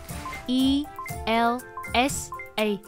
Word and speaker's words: ELSA: thức được ra đời Elsa phát âm giống Elsa trong Frozen á Frozen e l s a đọc là Elsa không phải là sa mà là s Elsa ở đây hiểu đơn